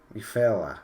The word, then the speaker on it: Ufella: Ufella, because like Europe, EU, fella.